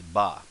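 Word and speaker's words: ば: come down here so here we have is the ha which if we voice it becomes ba then while we're down here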